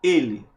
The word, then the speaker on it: ele: olha o pronome pessoal ele olha é a pronúncia da letra l então ele a pronúncia é o quê E aí a pronúncia fechada Você concorda comigo e